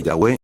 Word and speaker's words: Yahweh: En las versiones católicas, Yahé se lee Yahweé porque la v es una u en el idioma latín.